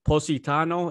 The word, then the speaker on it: Positano: one place we were intrigued by is it positano is that how you say it yes what